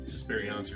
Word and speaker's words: Suspiriancy: So let's move next to Suspiriancy Rhymes with Beyonce.